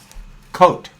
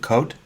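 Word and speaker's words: Côt: they say in cahor coat kakal K kutal how do you pronounce coot is it coat Co no you you don't put the just coot is just co co co co okay uh that's what they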